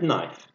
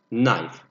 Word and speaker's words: knife: knife okay fork and knife let me write these things down four and not pay attention to one thing for the pronunciation knife we pronounce as knife we don't pronounce K in the beginning we don't say knife